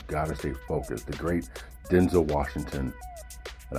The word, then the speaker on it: Denzel: The great Denzel Washington, and I found out it's Denzel, not Denzel. It's Denzel. That's how he says it's pronounced.